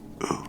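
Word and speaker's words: う: turned you'll see so this is U for you it's just like this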